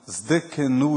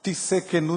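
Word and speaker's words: Tsidkenu: O correto seria cantar, se tirasse aquele T, colocasse o S, depois um D, Zdekenu. Aí sim, a transliteração ficaria próxima do que representa a palavra no hebraico. Então, a gente pronunciando Zdekenu Yavé, a gente está mais correto do que... Tissekenu não existe. A gente está cantando algo que não existe.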